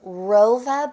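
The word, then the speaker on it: Wrova: But right here, what I have is from the Rova brand. It's W-R-O-V-A is how you spell it.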